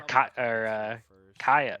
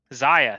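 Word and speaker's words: Zyra: This person has a 3-star Kaya. Kaya? Is that? Zaya, thank you. I always say her name wrong, dude.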